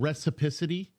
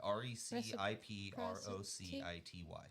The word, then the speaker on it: reciprocity: you have to have a certain type of recipicity is that what the is i believe that's probably how you pronounce that yeah r-e-c i-p-r-o-c-i-t-y i think it's reciprocity reciprocity okay that's that's